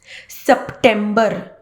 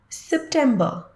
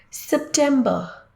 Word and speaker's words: September: most incorrectly pronounced months September September no September September it sounds very melodious and close to perfect if you do not pronounce the r at the end September September next it